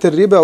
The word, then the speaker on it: الربا: الآية رقم 275، كلمة الربا رسمت هكذا، ألف لام راء باء، وبعدين في ألف صغيرة مرسومة فوق الواو، وبعدين في ألف عليه الصفر المستدير، الصفر المستدير لا ينطق لوصلا ولا وقفا، ليس له أي أهمية لكنه من رسم القرآن.